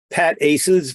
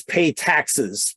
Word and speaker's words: PATACS: The abbreviation is pronounced a couple of ways. It's PATACS, sometimes pronounced PATACS, which is the one I like. And the other widely used pronunciation is PATACS, which is not the one I like.